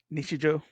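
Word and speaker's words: 日常: Nisha Joe.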